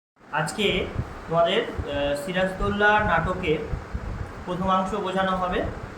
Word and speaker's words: সিরাজদ্দৌলা: প্রথম যে জিনিসটা দেখবে সিরাজদৌলা বানানটা ভালো করে দেখে নেবে বেশিরভাগ সবাই কিন্তু এই বানানটা উচ্চারণটা করতে গিয়ে ভুল করে সিরাজ উদ্দৌলা করে দেয় যে সিরাজের পরে হস